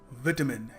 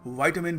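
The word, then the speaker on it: vitamin: देखिए, अगला शब्द है विटामिन, या फिर वाइटामिन भी कह सकते हैं। ब्रिटिश थोड़ा विटामिन कहते हैं, अमेरिकन्स वाइटामिन कहते हैं। हम क्या कहते हैं? हम केमिस्ट के पास जाके कहते हैं विटामिन है। सो विटामिन इसकी बहुत ही गलत प्रोनाउंसिएशन है, या तो विटामिन कह लीजिए या फिर वाइटामिन कह लीजिए।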